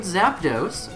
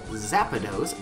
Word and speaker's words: Zapdos: going to try to find Zapdos which I used to pronounce zapados back when I was a little kid so shout out to